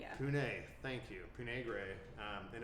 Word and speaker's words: Pooneh: Pooneh, yeah. Pooneh.